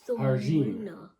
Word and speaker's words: Jardim: Oh, her name is Simone Jardim. Oh, I forgot. Or if you're pronouncing it properly, it's Harjin.